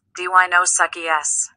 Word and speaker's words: Deinosuchus: You say it like this, Deinosuchus.